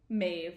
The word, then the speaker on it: Maeve: Maeve.